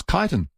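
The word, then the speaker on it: Chiton: Um Bev says, "I lived in Port Elliot for years and often visited the Kiton Rocks Life-Saving Club, always pronounced as Kitan."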